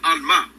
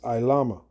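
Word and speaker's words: עלמה: word for Virgin is Alma which really only means he didn't even pronounce it correctly it's iama I Lama a young woman a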